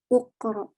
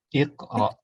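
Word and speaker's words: اقرأ: Yaqra'u Uqra. Iqra. Uqra. Ya, kalau huruf ketiganya fathah bacanya i.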